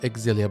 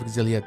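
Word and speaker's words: Xillia: all pronounce this word I think it's pronounced exilia but I'm not sure but yes a nice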